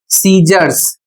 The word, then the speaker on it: scissors: इसका प्रोनंसिएशन है सीजर्स।